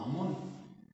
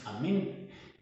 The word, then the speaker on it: Amén: Hay otro dios egipcio de nombre Amén, casi siempre se traduce como Amón, pero la verdadera traducción es Amén, Y así terminan casi todas las oraciones en el judeocristianismo, diciendo amén.